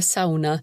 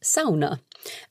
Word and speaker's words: sauna: off and of course we pronounced that sauna in English but Helena describes how important it is to say the word sauna for the Finns so I remember how